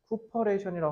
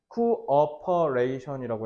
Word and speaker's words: cooperation: 자, 쿠퍼레이션 하면 안 돼요. 쿠퍼레이션 하면 코퍼레이션이라고 회사란 뜻이랑 헷갈릴 수 있어요. 이거는 쿠어퍼레이션이라고 해야 돼요. 알겠죠? 다시 쿠어퍼레이트예요. 그래서 발음은 쿠어퍼레이션이라고 한다.